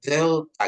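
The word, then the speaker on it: δέλτα: kata W gitu ya terus ada delta ya delta ya dia lebih ke th ya. D de de ya. Jadi pengucapannya delta gitu. Ee apa lidah kita itu di antara gigi ya delta gitu ya delta.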